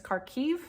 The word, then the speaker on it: Kharkiv: I believe Kharkov is how they say it in Russian, and I think that now how Americans in English is saying is Kharkiv. I'm not totally sure on that pronunciation.